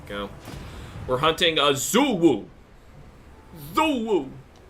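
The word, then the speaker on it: Xu Wu: Zuwu. It's pronounced J-Woo, but... That's not a J, that's an X. no, it's J.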